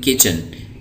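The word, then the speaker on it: kitchen: किचन, यहाँ पे T silent है, इसको पढ़ेंगे किचन।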